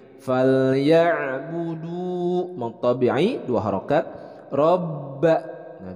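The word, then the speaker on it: رَبَّ: Robba. Nah, di sini ada ba bertasydid, jadi harus ada penekanan. Robba. Oke, selanjutnya hadza.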